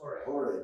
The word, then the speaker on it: Jorge: It's not George, it's Jorge.